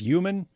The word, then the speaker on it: human: I don't think the H is supposed to be silent.